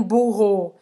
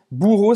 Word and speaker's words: bourreau: entendam que você é um burro. Je suis un burro. Bourreau se escreve assim. Un bourreau. Un bourreau. Aí se você falar je suis au burro, aqui, se ao invés